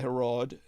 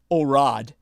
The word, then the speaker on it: Herod: he was known by Herod recognized by Elrod to a more correct pronunciation orad orad who recognized that Christ